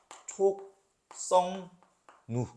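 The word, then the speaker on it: 촉석루: 니은이 왔는데 여기 뒤에 비음이 있으니까 앞에 기역이 있으면 발음하기 힘들잖아요. 니은이 기역한테 영향을 미치는 거예요. 그래서 최종적으로 촉, 성, 누 이렇게 됩니다.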